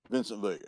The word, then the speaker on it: Vincent Vega: Vincent Vega. You got to say it like that.